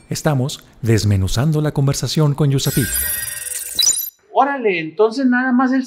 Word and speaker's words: USAPEEC: Síguenos en redes sociales como USAPIC LATAM para que te enteres de nuestros eventos y las actividades que realizamos.